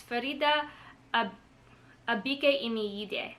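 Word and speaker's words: Faridah Àbíké-Íyímídé: It's Farida Abike Imiyide.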